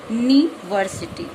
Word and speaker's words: university: लेकिन इसका प्रोनाउंसिएशन यानी उच्चारण, प्रोनाउंसिएशन मीन्स उच्चारण, यानी हम इसको क्या बोलते हैं, यूनिवर्सिटी, यू।